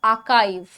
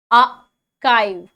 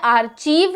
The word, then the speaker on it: archive: आर्चीव नहीं और आचीव नहीं, आकीव भी नहीं, आर्काइव. आर्काइव, ठीक है. नाउ फॉर आर्काइव मे be spelled as and pronounced as आर्किब, ठीक है. कुछ लोग इसे डेफिनेटली आर्किब भी बोलते होंगे. The English word is said like the word sky.